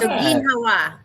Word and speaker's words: ginhawa: Jim says, my wife's from Negros, that's this island, and says you're correct on the pronunciation. Okay. So, So all right. Ginhawa.